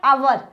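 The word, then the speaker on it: hour: Next भी ऐसा ही है, आवर। आवर बोलते हैं, ऐसा कौन सा बच्चा जो इसको हावर पढ़ता है? नहीं, ये इसकी प्रोनाउंशिएट है, प्रोनाउंसिएशन इसकी है आवर।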